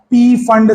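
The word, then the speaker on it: Pfund: उसको फंड series बोलते हैं, फंड, बट मैं पी फंड इसलिए बोल रहा हूं ताकि आपको एग्जाम में नाम याद रखने में आसानी हो, आप स्पेलिंग मिस्टेक्स ना करें।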